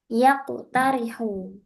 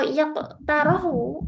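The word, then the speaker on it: يَقْتَرِحُ: Iqtaroha yaqtarihu. Iqtaroha yaqtarihu. Kalau yaqtarahu nggak ada.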